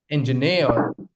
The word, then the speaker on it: engineer: Engineer. Engineer. Or you could also say engineer. Okay. In or both of them sound okay. But the stress is on the third syllable.